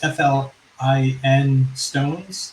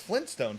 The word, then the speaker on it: Flintstones: It's just FLIN Stones. No, it's Flintstones. There is a T in there. So it is Flintstones.